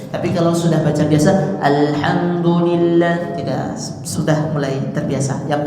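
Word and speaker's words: الحمد لله: a a Nah jadi kalau ada huruf lam tidak boleh dibaca pendek seperti bacaan izhar ya alham alham nah tapi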